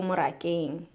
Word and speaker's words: morakeng: English farm book, Ko morakeng, or At the Farm, just to help in pronunciation. So, Ko is like a preposition, at. Moraka is farm, so at the farm is morakeng.